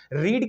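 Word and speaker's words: read: रीड की भी same रहती हैं लेकिन उनका प्रोनाउंसिएशन चेंज हो जाता है। फर्स्ट फॉर्म में तो हम उसको रीड ही बोलेंगे, लेकिन सेकंड फॉर्म और थर्ड फॉर्म में हम उसको पढ़ते हैं रेड।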